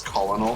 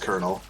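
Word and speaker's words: Colonel: Network 3 blue or five kernel I always pronounced it in my head as colonal when I was a kid oh yeah yeah so I didn't know it was pronounced kernel well so that's not nearly as bad as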